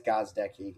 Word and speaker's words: Gozdecki: little bit now, Gozdecki. Is that how you pronounce it? Yeah, it's Gozdecki. It's very phonetically the same, but like it trips people up a lot.